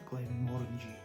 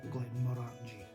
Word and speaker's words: Glenmorangie: Easiest way to remember that, it's orangey, like the fruit orangey. Some people will say Glenmorangie, but the local sort of people up around there, they'll try to relate. The correct way to say it is Glenmorangie, not Glenmorangie.